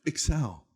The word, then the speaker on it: XL: pronounced Excel. Or when we would go on stage and concert promoters would go, coming up next, extra large.